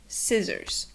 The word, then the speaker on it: scissors: The C is silent, like in scissors.